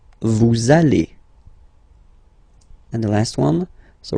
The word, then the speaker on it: vous allez: Same thing here, we'll have this little link between the two. Vous allez. Vous allez.